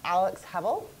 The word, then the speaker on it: Hebbel: Today I have with me Alex Hebbel. Rhymes with pebble, helps me remember that.